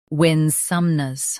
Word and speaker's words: Winsomeness: Winsomeness. Both US and UK have the same pronunciation of this word. Stress win. Keep some soft, then nuz light.